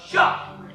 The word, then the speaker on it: शाह: बेटा एक बात हमेशा याद रखना, जब भी तुम शाह का उच्चारण करो तो तुम्हारे मुंह से हवा निकलनी चाहिए कुछ इस तरह। शाह।